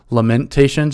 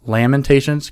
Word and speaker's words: Lamentations: It's not lamentations, it's lamentations, kind of like laminating.